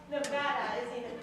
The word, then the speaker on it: Nevada: pronounce my own State no it's Nevada I had a caddy named Brad with fire you got it all wrong it's is in I had an enchilada in Granada with the Spanish Armada me